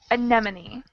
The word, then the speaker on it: anemone: In anemone, you pronounce like E.